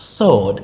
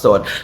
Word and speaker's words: sword: It's pronounced sword. The w is silent. It's pronounced sword.